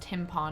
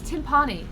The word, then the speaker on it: timpani: The fact that you guys actually thought it's pronounced timpani. I like is so timpani. funny. I like the stuff in Andy's room. Timpani. It's timpani, not timpani. It's Leviosa, not Leviosa. It's what? It's timpani. Yeah, it's a timpani.